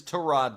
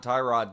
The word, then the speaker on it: Tyrod: His name is Tyrod Taylor, not Tyrod Taylor. That's a name we all mispronounce.